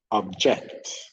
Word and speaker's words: object: verb for any homophones, the rule is when the stress is on the first syllable, that is a noun. When the stress is on the second syllable, that is a verb.